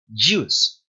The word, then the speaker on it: juice: Jugo en inglés se dice juice. Juice. Juice. Es como una DY ahí medio solapadita. Juice. No es juice. No se pronuncia como nuestra J.